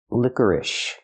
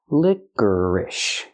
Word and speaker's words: licorice: sound like Burger liquor then we have ish use the I sound like this is plus the sh sound like in shoes sh sh licorice put the stress on the first and third syllable licorice this is licorice